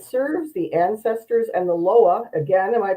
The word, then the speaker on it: Loa: He's a psychic reader, a medium, and serves the ancestors and the Loa. Again, am I pronouncing that correctly?